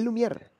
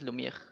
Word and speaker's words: Lumière: En español, Lumière está bien, pero supongo que en francés, Lumière.